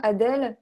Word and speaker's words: Adèle: Juste pour savoir prononcer le prénom Adèle avec l'accent américain, comme Delphine tout à l'heure. Adèle. Adèle. Très relâché.